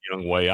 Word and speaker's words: Younghoe: Younghoe Koo? Younghoe. Whatever. That says Young Ho. I refuse to go that call. It's pronounced Younghoe.